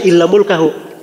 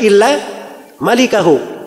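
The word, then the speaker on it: إلا مالكه: Albukhari itu gak bilang illa mulkahu. Dia berkata illa malikahu. Tulisannya sama mim laf lam kaf ha. Tapi cara bacanya yang beda. Dia bacanya illa mulkahu. Ya, kalau bacaan yang benarnya illa malikahu kecuali pemilik wajah.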